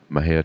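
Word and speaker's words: Mexia: theater 923 east main maha texas my head is spelled m-e-x-i-a our zip code is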